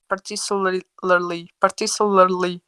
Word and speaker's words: particularly: the church, but more particularly the Particularly. particularly Mm-hmm. Particularly. particularly, particularly particularly, Particularly. Particularly. The last It's like particularly L, we don't pronounce the last L.